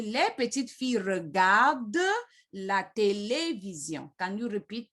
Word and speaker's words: regardent: Les petites filles regardent, because it's plural, regardent gonna end by ENT, but we don't pronounce that ENT, it's silent. So we're gonna say, les petites filles regardent la télévision.